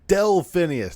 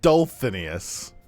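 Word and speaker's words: Delphineus: immediately I was kidding you delphinas not dolinas how is the dolphin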